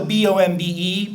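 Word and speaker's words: bombe: Turing brilliant uh mathematician um devises the first bomb they call the b o MBE bomba that's a Polish word but this pronounced bomb um no one knows where that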